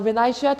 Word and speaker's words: vinaigrette: So vinaigrette is also a French word adapted to English. Vinaigrette. V-I-N-A-I-G-R-E-T-T-E. That's why we are pronouncing the T.